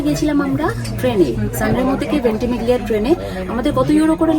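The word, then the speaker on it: Ventimiglia: ভেন্টিমিগলিয়া, আমরা ভেন্টিমিগলিয়া বলছি, তো জিটা সাইলেন্ট হবে, ওটা হবে ভেন্টিমিগলিয়া স্টেশন।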